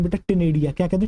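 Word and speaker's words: ctenidia: टनेडिया या नेडिया भी आप कह सकते हो बेटा बेसिकली साइलेंट होता है इसके अंदर प्रोनाउंस करने में जो है बड़े अटपटा सा है टनेडिया सी टी एन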